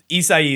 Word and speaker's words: Isai: Like, I feel like that's a lot of like sound for just like 4 letters almost, you know, like nobody is gonna expect that. It's like 4 syllables for four letter.